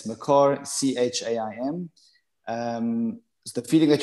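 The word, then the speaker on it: Mekor: the street it's someone said how do you spell it m-e-k-o-r it's macar c-h-a-i-m um the feeling that you have here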